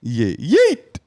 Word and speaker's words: yeet: Yeet. Usually pronounced like that, by the way.